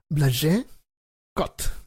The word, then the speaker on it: Blasek: En junio de 2009, Caroline Coffey y su esposo, se escribe Blasek, pero se lee Blage Cot, habían regresado hace poco de su luna de miel en Costa Rica.